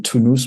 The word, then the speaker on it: Tunis: work uh also into Tunisia as well um discovered quite a bit so yeah I drove between two cities so capitalist Tunis or two news by how they pronounce it and then drove to